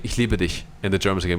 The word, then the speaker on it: ich liebe dich: You always say, every American always says, ich liebe dich. They always say it with the sh.